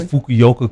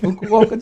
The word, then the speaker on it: Fukuoka: that we competed against I'm glad you said Fukuoka cuz yeah I could not pronounce it fukoka Japan right and it